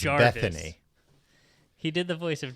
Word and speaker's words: Bettany: It's pronounced Bethany.